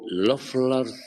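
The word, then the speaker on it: Löffler: can aggravate the syndrome and this is called lers syndrome lers syndrome and lers syndrome is spelled l o and the O has two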